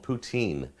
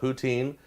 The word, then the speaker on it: poutine: Some people call it poutine. Some of the French call it poutine. There's like an S sound in the middle of it.